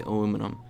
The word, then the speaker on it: aluminum: on the periodic table in Europe it is pronounced aluminium whereas in the US we say aluminum either way it weighs